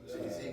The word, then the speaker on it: 7AE: His name is Jay, but it's spelled with a 7, so 7AE.